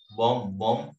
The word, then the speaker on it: bomb: What is silent letter? M. Bomb.